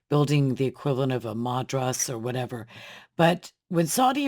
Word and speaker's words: madrasa: were building mosques and madras. Madras. That's I knew I was pronouncing that wrong for some reason.